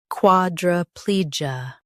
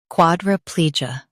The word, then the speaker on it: quadriplegia: In US, stress pli. In UK, stress quad. Quadriplegia. Quadriplegia.